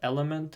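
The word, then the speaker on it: LMNT: of them is called element it's not it's just what I use it's called it's spelled with the letters l m n t it's just like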